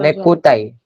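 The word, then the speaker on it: ネクタイ: चलन कोनो चलन पर नेकुताई. नेकुताई. नेकोटाई. हाँ, नेकटाई. हाँ, नेकटाई को वो लोग एक्सेंट में बोलते हैं, वो नेकुताई हो गया.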